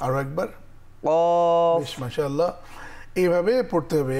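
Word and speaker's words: قاف: আর এটার উচ্চারণ হচ্ছে জিহ্বার গোড়া তার বরাবর উপরে তালুর সঙ্গে লাগিয়ে। আমরা দেখতে পাচ্ছি জিহ্বার গোড়া ঠিক, বা আমি বলবো আলা জিহ্বা দিয়ে। কফ। আরেকবার, কফ। আরো একবার। কফ।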